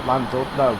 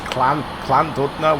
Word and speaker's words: Llandudno: And we always call Llandudno, but somebody pulled me up on it and said you shouldn't be calling it Llandudno. It was Llandudno or something like that.